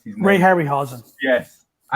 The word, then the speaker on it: Harryhausen: of the ray hassell ray uh i can't pronounce these ray harryhausen yes it's okay it's okay i know you're